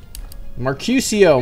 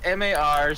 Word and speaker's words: Marcurio: Mercutio, move! Mercurio. Yeah, I think it's Mercurio. I can't pronounce that. That's freaking. It's Marcurio. There's no S or C at the end.